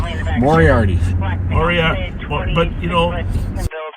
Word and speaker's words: Moriarty: I think you got to have the accent on the right syllable. Moriarty.